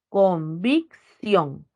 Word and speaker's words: convicción: cuatro agujas la convicción la sílaba es convicción en la última sílaba está la mayor fuerza de voz se tilda porque